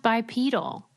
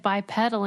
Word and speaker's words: bipedal: the butt and they never knew it was pronounced bipedal oh how I've only read it so I always said bipedal in my mind cuz it's spelled like a petal you know Oh a